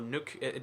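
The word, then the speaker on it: Nuuk: just for one more nuke is the capital or nuke depending on how you want to pronounce that uh and this is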